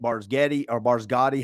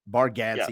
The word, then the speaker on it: Bargatze: I love Nate Barsgatti, however you say his name. I can't ever say his name. Bargatze.